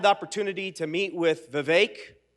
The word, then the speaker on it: Vivek: opportunity to meet with Vivek rhymes with Jake he always says it's Vivek like cake but friends of Jake